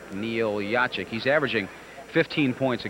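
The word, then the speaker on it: Jaciuk: The name is spelled J A C I U K and pronounced Yachik. Neil Yachik.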